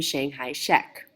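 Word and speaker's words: Chiang Kai-shek: His name is Jang Jishi. In many western countries we have called him Shanghai Sheek which for the purpose of my pronunciation that's how I will refer to him.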